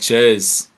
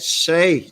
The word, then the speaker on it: Chez: Oh, that Ches. That Shay. You gotta say it right, boy.